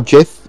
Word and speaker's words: Giff: The Major is a Giff, or Jith, if that's how you prefer to pronounce it, which is a kind of...